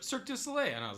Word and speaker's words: Cirque du Soleil: Oh, that's how you pronounce it. Yeah. I thought it was Kirkue du Soleil. For real? No. Okay. Cirque du Soleil.